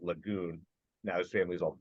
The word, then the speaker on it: Lejeune: as opposed to Camp Lejeune for the Marine Corps which you know has a big statue of uh of John a Lejeune I think they actually pronounced that Lagoon now his family is